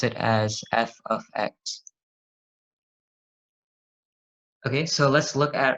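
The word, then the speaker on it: f(x): are we here this notation over here you pronounce it as f of X okay so let's look at our basically our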